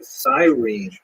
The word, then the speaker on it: Cyrene: I've looked it up and I've heard it pronounced as Cyrene in English. In Greek, it would have been something like Kurene.